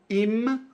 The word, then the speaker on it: im: Então, im com M de Maria e tem que pronunciar fechando a boca.